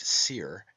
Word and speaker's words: soir: Therefore we have the heavenly wolf, Osiris, meaning the high eastern sun, from os, high, and soir, pronounced seer, and meaning east, hence the morning sun.